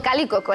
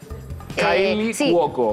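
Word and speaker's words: Kaley Cuoco: No, Cali Coco, la del Calipo. ¿Pero es una persona real o río quinoa? No, es real, lo que pasa es que lo pronuncié muy mal porque... Kylie Cuoco.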